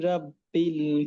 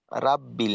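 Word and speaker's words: رَبِّ: আরেকটা হল জবর তো র হবে। র জবর কিন্তু রাব্বিল না রব্বিল। তো সেক্ষেত্রে আউজুবি রব্বিল।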